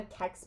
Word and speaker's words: Kex: Um, but it's a CEX bar. So, it's spelled kex.